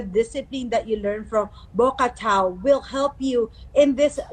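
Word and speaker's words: Bokator: you also studied what is this called, the Bocator, is that correct? Bocator. Bocatao. Bocator, how do you say that? So for foreigners, they have a hard time pronouncing it. Actually, it's called Bocatao.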